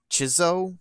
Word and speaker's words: Chzo: the first in the i'm not sure how to pronounce this it's spelled c-h-z-o chizzo mythos series it was developed